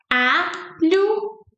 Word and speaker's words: alho: How do you make the LH sound? It's like a, li, u, like u, a, li, u. And it's like you're speaking li fast.